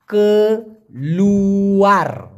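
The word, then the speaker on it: keluar: আমরা অনেকেই জানি মালয়েশিয়ান ভাষায় কেলুয়ার, কে লু আর উচ্চারণটা কি কেলুয়ার।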